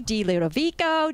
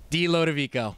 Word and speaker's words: DiLodovico: yates wolfing and dilutovico did i say it right close enough you say it dilodovico see there it is nice and smooth just rolls off the tongue this